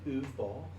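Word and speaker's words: Uwe Boll: Did you say Uwe Ball earlier? Is that how you pronounce his What's his name?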